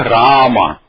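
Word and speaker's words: राम: Mas se eu puser assim, você vai dizer, em sânscrito vai dizer Rama. E em Hindi? Em Hindi está escrito igualzinho, você vai pronunciar Ram, Ram.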